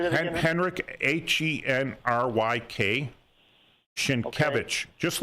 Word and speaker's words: Sienkiewicz: It was written by Henryk Sienkiewicz, right?